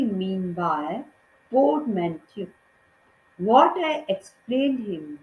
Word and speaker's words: portmanteau: The word is pronounced, इसका उच्चारण पोर्टमैंटो, पोर्टमैंटो की तरह से करते हैं with the stress on the second syllable. Second syllable का मतलब है MEN, उस पर हम स्ट्रेस देते हैं. Portmanteau is a word whose